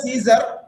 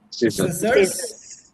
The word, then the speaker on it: scissors: Don't say Caesar. You should say scissors.